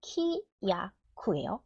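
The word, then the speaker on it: きやく: 자, 아마 읽을 수 있는 학생도 있고 못 읽는 학생도 있을 건데 여기 키야쿠예요. 키야쿠. 키야쿠. 키야쿠는 기약이라는 뜻의 단어입니다. 그런데 요거 요음이잖아요. 캬쿠라고 읽죠.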